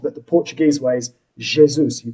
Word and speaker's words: Jesus: So some people say what is it Jesus or something, but that's the Is it? Spanish way Yeah. of saying it. And then you can be told that the Portuguese way is Jesus.